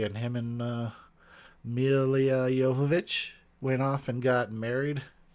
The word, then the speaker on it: Jovovich: like an awesome know-it-all it is pronounced Jovovich okay everyone not Jovovich she gets kind of